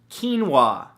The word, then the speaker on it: quinoa: beautiful thing number two quinoa spelled ke en wuah no that's not how it's spelt at all but it should right come on English